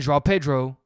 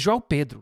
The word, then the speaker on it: João Pedro: also got Estevão and João Pedro? Why did I say it like that? It's João Pedro.